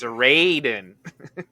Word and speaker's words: Sarandon: Of course, someone's going to tell me, you have to pronounce the A long. It's Sarandon.